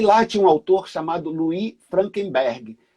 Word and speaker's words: Louis: E aí lá tinha um autor chamado Louis Frankenberg. Louis, que é uma pronúncia francesa de Luiz, como é escrito, né?